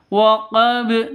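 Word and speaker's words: وقب: disebut dengan Qalqalah Kubro cara bacanya waqab langsung seperti itu bukan karena kenapa karena sukun kecuali ada tasdidnya cara bacanya kalau ada tasdidnya seperti ini waq seperti itu ya tapi kalau tidak ada tasdidnya cukup waqab seperti itu waqab begitu ya Oke kita ulang sekali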